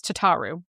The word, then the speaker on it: Tataru: I just I I I'm going by Alfino's pronunciation, which is Tataru.